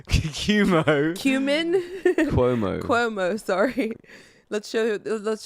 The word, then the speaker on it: Cuomo: show the Chris Chris chomo how do you pronounce his name cumo cumo cumin Cuomo Cuomo sorry let's show let's show the clip